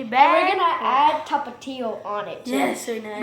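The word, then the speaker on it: Tapatío: we're gonna add Tapatio on it. Too. Yes, we're gonna. The way you say it, tapatio. Yeah. Tapatio. I'm not Mexican. The real Mexican way is tapatio.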